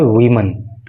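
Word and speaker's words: woman: लेकिन जब डब्ल्यू ओ एम ए N spelling होती है तो उस समय प्रोनंसिएशन इसका हो जाता है वुमन और उस समय इसका अर्थ होता है एक महिला वो सिंगुलर नंबर होता है।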